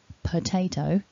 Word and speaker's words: potato: we have the earth at the beginning of the word per potato to create that weaker syllable so that the the Tay can be stronger and you'll notice there that the word it's actually spelled with an O but we have the schwa sound it's really important to